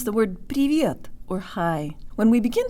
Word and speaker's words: привет: Use the Russian default mouth position and say the V with a hint of a Y sound in it.